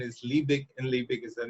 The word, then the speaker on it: Liebig: live means shoot poser but actually actually the pronunciation is libic and lipic is the name of the scientist